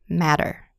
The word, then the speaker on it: matter: bottle in two syllables where tea or tea tea is surrounded by vowel sounds City matter and the second syllable is not stressed city matter the tea will sound like a D item auto writer baddest